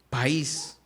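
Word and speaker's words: παῖς: traducir siervo o hijo es la palabra país. país, no como país en español, país, de donde viene paido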